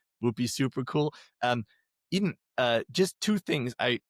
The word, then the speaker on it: Edan: So it it's pronounced like Eden.